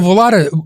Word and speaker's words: Vallata: Did I pronounce it? Well, Vallata.